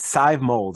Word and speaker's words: Sadhbh Mowlds: now I want to welcome her name is Scythe molds I've learned how to pronounce it thank the Lord and I'm great